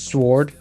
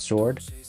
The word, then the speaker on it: sword: There's a few silent letters that she doesn't use or believe in. She says sword, not sword.